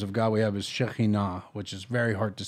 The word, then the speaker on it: Shekinah: um feminine names of God we have is Shekinah which is very hard to say so in English it's like Shekinah s-h-e-k-i-n-a-h you'll see it written that way in